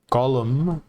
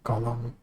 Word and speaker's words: Golem: Silence of the llamas Golem no not column fungus flinger flesh Gollum yes I'm still very grateful for your flash Golem which is delegated to